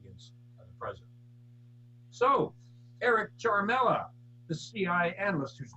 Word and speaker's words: Ciaramella: The Ukraine whistleblower, Eric Ciaramella, properly pronounced Sharmella, was overheard discussing how to take out Trump in 2017 before he even claimed he was a whistleblower.